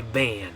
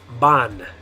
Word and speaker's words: van: So, because in English we would say van, right? The way you'd say that word is van. But in Spanish, the way you're going to say it is ban. Ban. Okay, so in English it'd be van. In Spanish you're going to say ban.